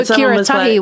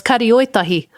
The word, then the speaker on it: Karioitahi: I didn't know Kiratahi was Karioitahi. I did not know. I would have thought, is it Kiratahi?